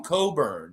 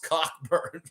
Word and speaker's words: Cockburn: him ron coburn so unless they tell you yeah my name is cockburn yeah my name is kofi cockburn you know call him coburn because it's not pronounced cockburn oh the places we